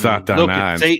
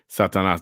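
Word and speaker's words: Satanás: Satanas. That's right. Satanas. That's right. That's how you say it in Spanish.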